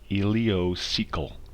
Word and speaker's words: ileocecal: heard about the ileocecal valve but it is pronounced ileocecal okay and it is a sphincter muscle that